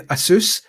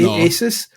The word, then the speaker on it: Asus: I spent all week trying to pronounce this bastard. Cuz I I go online, some people are saying Asus. I would say Asus.